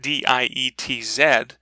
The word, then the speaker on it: Dietz: of her last name spelled it d-i-e-t-z but pronounced d-e-e-t-zed dietz it was fantastic it